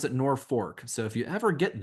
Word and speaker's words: Norfolk: Norfork they pronounce it Norfork. So if you ever get there, make sure you pronounce the R.